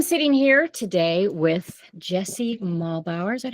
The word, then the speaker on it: Muehlbauer: I am sitting here today with Jesse Muehlbauer.